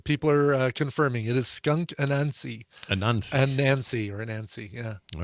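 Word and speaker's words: Skunk Anansie: I always pronounced it Skunk Anasazi, but looking how it's spelled, it's not Skunk Anasazi. Is that like Skunk Anansi? Anansi, kind of like Anansi Boys by Neil Gaiman.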